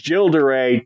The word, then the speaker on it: Gilles de Rais: I specifically looked up uh the way to pronounce it and it's uh which basically is jilderay to me but the French have a way